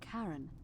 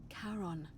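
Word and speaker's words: Charon: It's just as you described it, only your pronunciation is a little off. The name you heard wasn't Karen. It was C H A R O N. As in Karon, the fairerryyman of the dead.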